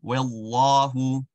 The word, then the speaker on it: والله: The wow is going to be happy. The lam is going to be awesome. Wallahu, wallahu.